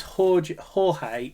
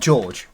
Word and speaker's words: Jorge: I think it's Jorge. Not George. Jorge. Yeah, not George. He's spelt. It's going to be like a Spanish type of George with a J.